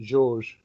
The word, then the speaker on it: Jorge: But is it pronounced Jorge or is it George? I pronounce it George. George. But right. Yes. Doesn't mean to say it's right, but that's so yeah.